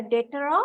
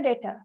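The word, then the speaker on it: debtor: that person is called detor that is a detor of this business it can be a bus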